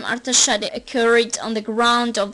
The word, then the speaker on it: Artashat: The name of the city was pronounced as Artashat in the language of the local inhabitants.